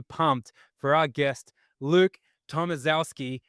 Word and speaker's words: Tomaszewski: for our guest, Luke Tomaszewski. I hope I said that right because it sounds like Mike Wazowski, but it doesn't be spelled like that.